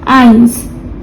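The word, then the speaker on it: eins: आइंस।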